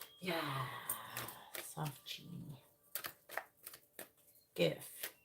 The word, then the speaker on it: GIF: saying yeah soft Genie GIF it's gif not Jeff all right please tell